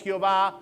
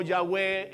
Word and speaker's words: Yahweh: la palabra que conocemos, Jehová o Yahweh en la pronunciación hebrea.